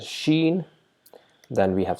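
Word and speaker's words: شين: Equivalent to letter SH is Sheen.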